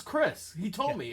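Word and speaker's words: Xhris: it might be risks or something no it's chris he told me it's chris i said it's pronounced chris he's like yeah i said why do you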